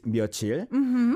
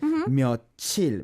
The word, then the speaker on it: 며칠: But, back in days, it was spelled 몇 and then 일. It was separated. 며칠. But the pronunciation was so like 며칠 that they eventually changed it officially to be 며칠. So now, if you look